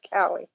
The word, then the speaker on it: Calle: name's Sasha call Cali she pronounces it Cali there anyway yeah she